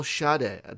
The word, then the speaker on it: Schade: Say hello to the CEO of Rockfish Games, Michael Schade.